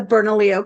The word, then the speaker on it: Bernalillo: Pronounce the name of your organization properly for me, Maria. It's the Bernalillo County Home Visiting Work Group.